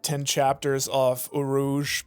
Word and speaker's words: Urouge: Okay, I've been saying his name wrong. I've been calling it Uroge. that's good. That's strong. I like that. I mean, fair enough, but yeah. Rogue. That's cool. I mean, Urouge coming in 2024.